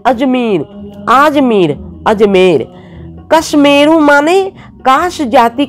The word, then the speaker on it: कश्मीर: तुम लोग इस बात को स्मरण रखो, अंग्रेजी भाषा कश्मीर शब्द का उच्चारण क्याश्मीर है और संस्कृत में कश्मीर।